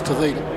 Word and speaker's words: Tavita: It's Tavita. Have a look on your program on that one.